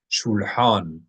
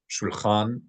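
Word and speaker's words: שולחן: Shulhan, a table. This is the regular word for table in modern Hebrew as well. Shulhan or shulchan in pop pronunciation, shulchan, like Shulchan Aruch.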